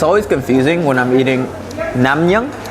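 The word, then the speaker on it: 냉면: It's always confusing when I'm eating namnyang. How do you say it? Naengmyeon? Naengmyeon, which is cold noodles, because when I hear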